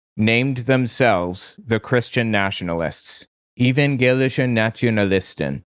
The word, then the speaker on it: Evangelische Nationalisten: Evangelische Nationalisten. I believe that's how it's pronounced.